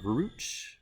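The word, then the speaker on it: gruit: You also have one of the big innovations was the movement from making beers from what's called groot. It's kind of like fruit with a G, groot. Groot.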